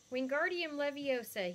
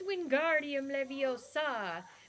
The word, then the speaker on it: Wingardium Leviosa: Wingardium Leviosa, he shouted, waving his arms around like a windmill. You're saying it wrong, Harry heard Hermione say. It's Wingardium Leviosa. Make the gar nice and long.